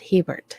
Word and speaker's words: Herbert: said by Brian Herbert which I know is said Hebert even though it's spelled Herbert Hubert that's very important to